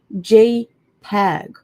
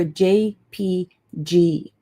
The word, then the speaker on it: JPEG: And then we have JPEG or JPG.